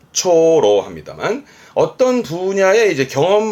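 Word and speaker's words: 長老: 길장 짜죠 장로가 되겠습니다 장로라함은 발음은요 초로 초로 합니다 어떤 분야에 이제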